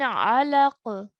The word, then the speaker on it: علق: من علق. من علق. Excellent. When you end the sound over here, the qaf will have a sukoon on top of it. Try and make a bouncing sound, okay?